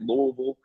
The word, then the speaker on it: Louisville: just so you know you got to swallow your tongue when you say it louisville but louisville the louisiana